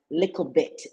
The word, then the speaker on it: Lickle: I hope you all took note of the way I pronounce Lickle because Yeah, that is the authentic way in which to pronounce it, right, Alex?